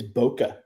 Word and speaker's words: bokeh: It's bokeh. Bokeh. Bokeh. Bokeh. Don't ask me what it stands for. I don't understand it. It's not even spelled the way it sounds.